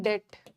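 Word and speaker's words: debt: इन डेप्ट B silent होता है।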